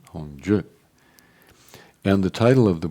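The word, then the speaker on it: Hongzhi: other link yeah um h-o-n-g-z-h-i which uh Caroline tells me is pronounced Hong Ji I don't know why why is it pronounced hongju and the title of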